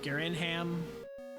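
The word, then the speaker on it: Garinham: Garenham can be said with a little bit of an accent, like Garenham. I'm from Wisconsin, so I say Garenham. Really gotta stretch out those Uper syllables.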